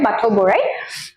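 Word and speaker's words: Bathou Borai: Eta more jitu pronunciation to bhul hobo pare Bathau Borai.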